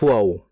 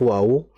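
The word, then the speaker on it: و: Mengenai huruf wau ini perlu diketahui bersama huruf wau ini kan makhrajnya atau pengucapannya ini kan berada di bibir ya. Sehingga huruf wau ini harakat apapun dia maka tetap dibaca dengan memonyongkan kedua bibir.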